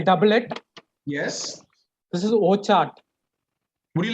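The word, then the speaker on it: Wockhardt: This is indeed Wokhart.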